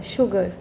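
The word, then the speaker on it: sugar: Words आप समझेंगे जैसे शुगर, एस एच नहीं लग रहा है यहाँ पे, एस यू लगा है, बट उसका जो उच्चारण आ रहा है श का आ रहा है, तो दैट बिकम्स शुगर.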